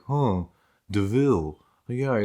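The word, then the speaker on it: De Vil: the baroness saying it spelled devil but pronounced deville and i was just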